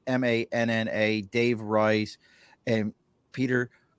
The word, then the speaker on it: Manna: You can find Manna, and it's Manna, Dave Rice, and Peter Quoy.